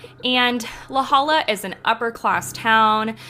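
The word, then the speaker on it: La Jolla: story takes place in laala California I think that's how you say it it's l a j o l l a and laala is an upper class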